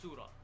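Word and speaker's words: surah: to refer to S it's actually surra by the way that's how they say it yeah in Syria in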